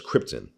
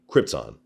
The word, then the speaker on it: Krypton: Speaking of lines, was amazed how Marlon Brando repeatedly pronounced his home planet as Krypton.